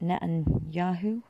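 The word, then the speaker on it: Netanyahu: can't pronounce his name netan yaho is that how you pronounce it don't think it's Yahoo but you get what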